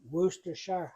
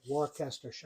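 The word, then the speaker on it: Worcestershire: so hard to say I've heard it said like a dozen different ways I know I know and woer Shire where do they get woster out of that huh how do you say it I say warter sh sauce no you don't wory Shire wory sh okay I just put a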